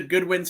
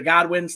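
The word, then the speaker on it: Godwinns: Bruce pritchard's brother uh so they defeated the Goodwins for the vacated WWF tag team championships the The Good the godwins thank you I mispronounced that formerly slasher and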